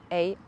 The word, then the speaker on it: Om: And remember, Om is made up of 3 syllables or 3 letters, not syllables, it's just 1 syllable, but it's A-U-M. So Aum. And it goes like this. The A comes through the belly, the U or the O comes through the chest, and the M is going to be in your head.